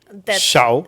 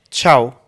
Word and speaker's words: tchau: say it like Ciao. which And you say it like this. But they even say it more like chi like ch. Ciao.